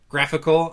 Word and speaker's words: GraphiQL: The Shopify GraphQL. Graphical. Okay, that's better.